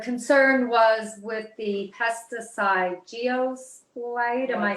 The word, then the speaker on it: glyphosate: um uh the concern was with the pesticide geos light am i saying it right glyphosate glyphosate yes there you go um and um i